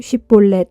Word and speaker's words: 쉽볼렛: 라고 물어보아 그가 아니요 하고 대답하면 그에게 쉽볼렛 하고 발음해 보라고 했다. 에브라임 사람들이 제대로 발음을 내지 못하여 십볼렛이라고 하면 그를 붙잡아 요단 나루터에서 죽였다.